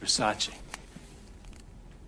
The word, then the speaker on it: Versace: It's pronounced Versace.